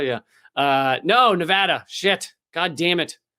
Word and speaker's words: Nevada: Nevada? Yeah. No, Nevada. Shit. God damn it. I just got to remember, when you show up in Las Vegas, you go, ah. You don't go, ah.